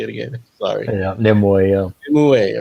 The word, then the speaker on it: Nimue: Yeah, Nimue, yeah.